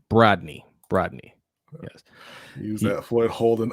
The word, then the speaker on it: Brodny: Danity wants to know, how do you pronounce Brodny? It's like Rodney, but with a B in front.